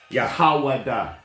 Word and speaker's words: Yahawadah: Yahawadah. Yahawadah. Believe me, it's there. That is a Paleo Hebrew pronunciation.